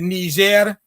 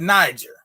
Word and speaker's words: Niger: The French say it Niger. The British say it Niger. So you can say it either way.